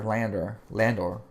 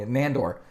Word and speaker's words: Nandor: He was basically excited because his master, Landor? Again, see, I'm saying the name's wrong. Nandor.